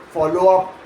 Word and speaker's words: follow up: Say follow up out loud and notice that natural American speech stresses up more heavily than follow. Coming out closer to follow up.